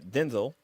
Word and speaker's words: Denzel: there's a video clip of uh it's uh Denzel that's how you pronounce it uh where Denzel Washington was on